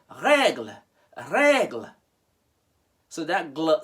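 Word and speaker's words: règle: that's why i said regl so that gl sound you hear is just a gl that e is non-existent in terms of pronunciation you get it want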